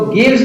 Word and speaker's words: gives: तो गिव्स की स्पेलिंग कैसे बनी, तो G से बन गया ग, और ये जो I है उससे बन गया ये छोटे ई की मात्रा, V से बन गया आधा व, और E साइलेंट है यहाँ पर, और S से बनता है ज।